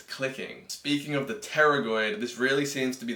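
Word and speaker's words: pterygoid: And this is occurring basically because this muscle called the terragoid, very weirdly spelled, spelled like a pterodactyl, attaches directly into the disc and the joint.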